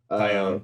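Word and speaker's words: Taillon: I believe Fangraphs has the rotation set of Steele, Talion. I think that's how you say it. Tyone, but yeah.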